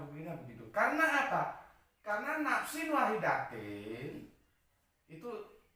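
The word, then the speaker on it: نَفْسٍ وَاحِدَةٍ: Karena nafsin wahidatin itu, kalau orang-orang Arab bacanya ya nafsin wahidah. Aku supaya lebih jelas nafsin wahidatin.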